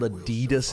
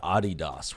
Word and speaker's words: Adidas: We pronounce it the way that the people who made the company wanted it to be intended. Wanted it to be pronounced. Intended for it to be pronounced, even. Adidas is just factually incorrect. Adidas. Yeah, it's the guy's name. His first name was Adi, his second name was Dassler.